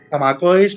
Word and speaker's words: Zamacois: Porque este apellido es de origen francés, pero yo no sé si está españolizado. Zamacois, supongo, ¿no? Zamacois, porque además de hecho es de origen vasco-francés.